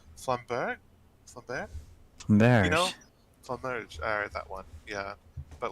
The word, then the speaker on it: Flamberge: I never remember how to pronounce it right. Flamberge? Flamberge? Merge. You know? Flamberge.